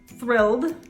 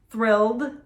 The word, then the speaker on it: thrilled: for another one let's go how would you pronounce the verb thrill in the past tense thrill would you say thrilled or thrill-ed thrilled or thrill-ed did you guys thrilled correct the